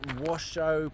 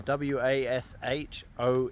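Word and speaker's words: Washoe: gentlemen I am at Washo Park I'm pretty sure that's not how that's not how it's pronounced uh w a s h o e Washo maybe and uh behind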